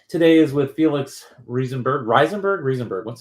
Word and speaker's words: Rieseberg: How do you pronounce it correctly? I lived in Germany for a while, and it would be Rieseberg, I think. It's a funny question. I've been in the Silicon Valley for like 13 years now, and I never really figured out how I really want people to pronounce it. Rieseberg works fine, but I'll take anything.